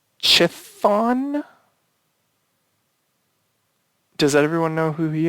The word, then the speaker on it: Chthon: It's Chthon. Does everyone know who he is? He's a Marvel. Chthon. Okay. Chthon. Yes. Chthon.